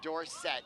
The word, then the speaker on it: Dorsett: He was called Tony Dorsett, and then he asked everyone to pronounce it Dorsett.